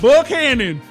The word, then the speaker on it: Buchanan: But do you really think about it's West Virginia? It's Buchanan.